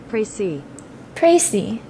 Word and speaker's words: précis: Precis pronunciation. Précis.